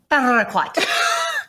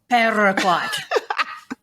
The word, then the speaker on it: Paraquat: We're gonna roll those R's. Paraquat. Join us. Okay, so what is paraquat?